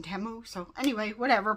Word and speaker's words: Temu: a temu hul and it is pronounced temu cuz I noticed that they changed their little ads that come up on YouTube the shopping like a millionaire thing it was saying Teemu first but now it's saying temu so anyway whatever pronounce